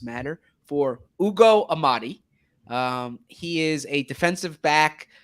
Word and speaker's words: Ugo Amadi: And I want to make sure that I get the name right because pronunciations matter, for Ugo Amadi.